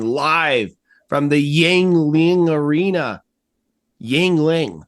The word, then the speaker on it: Yuengling: Yuengling, that's how you pronounce that.